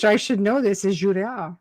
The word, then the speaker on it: Girouard: Is Girouard, right? Girouard. It's pronounced Girouard.